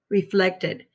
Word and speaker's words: reflected: When the base word ends with the letters T or D, the ending is going to be an additional syllable. That means I'm going to break apart right here for another syllable because it ends with the ed sound, ed. So we say reflected.